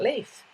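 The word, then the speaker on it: Lief: guess you're talking about leaf um that's how you pronounce him leaf like a leaf on a tree what is your favorite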